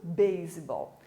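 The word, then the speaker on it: baseball: Você pode perceber que quando eu falo a palavra beisebol, eu continuo pronunciando S. A nossa regra na língua portuguesa de um S que está no meio de duas vogais ter som de Z, na língua inglesa não funciona, certo?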